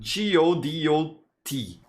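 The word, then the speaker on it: Godot: you check out the godo engine it's spelled g-o-d-o-t or go dot there are people who who say it like that so that's what i'm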